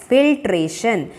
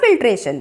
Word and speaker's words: filtration: Observe the spelling, FIL, fill, TRA, tray, TION, shun. Which method of the separating tea leaves from the prepared tea is better? Decantation or filtration?